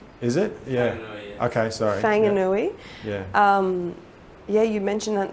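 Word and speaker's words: Whanganui: film that there's the river in New Zealand wangui River how do you pronounce it oh I think it's is it wangui Wang Wang maybei is it yeah okay sorry Fang anui um yeah you mentioned that in the film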